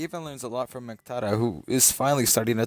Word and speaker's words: Muqtada: His roommate is Muqtada.